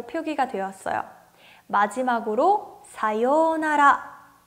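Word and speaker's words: さようなら: 외래 오기 때문에 가타카나 로 표기가 되었어요 마지막으로 사요나라 내 여기서 4 유우 요 라고 하는 발음 아까 오하이오 라고 했던 것처럼 마찬가지로 길게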